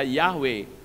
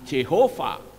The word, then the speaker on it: Yahweh: Dahsyat sudah setara Jati Harus dipanggil dengan tepat Hai bukan Jehova bukan jahoba Hai bukan pula yang lain tetapi harus tepat ia Hai dan Kebanyakan